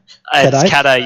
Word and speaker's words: Caday: Is it Caday? Is that how we pronounce it? Or Caday? Yeah, it's Caday, yeah, got it.